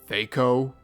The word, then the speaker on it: THAC0: on apologizing for also I know tho is technically supposed to be pronounced Theo but um no what's